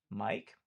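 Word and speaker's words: Miike: Um, and then Tagashi Mike, I think is how you say it. It's Mike, but with 2 eyes.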